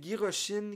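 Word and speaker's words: ギロチン: Avec Giroshin, qui est la façon que le mot guillotine est prononcé en japonais.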